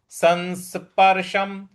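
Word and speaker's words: संस्पर्शम्: उसके बाद संस्पर्श संस देखिए स के ऊपर जो अनुस्वार है उसका न की तरह से उच्चारण करें। संस संस संस्पर्शम संस्पर्शम संस्पर्शम इस प्रकार से बोलेंगे।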